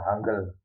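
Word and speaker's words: 한글: Tapi kalau ditulis dengan Hamul asli itu seperti ini. H gelah ini bacanya hangle. Kalau nulisnya di pemanasi nulisnya hangul.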